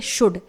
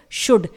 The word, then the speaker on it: should: इसके बाद last word है शुड, SHOULD, इट इज शुड, इसे हम शुल्ड नहीं पढ़ेंगे यानी L को आपको प्रोनाउंस नहीं करना है।